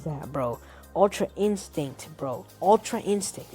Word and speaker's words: Ultra Instinct: And this is not Ultra Instincts, folks. This is not Ultra Instinct. Ultra Instincts, oh my gosh, I think I butchered that, bro. Ultra Instinct, bro. Ultra Instinct. It's not Ultra Instincts, bro.